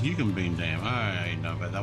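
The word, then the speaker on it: Eucumbene: Yukbine. You can bean. Oh, it's yuken bean.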